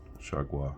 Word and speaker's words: Chargois: And we can go with Chargois. I looked up his name, and that's how you say it. Chargois.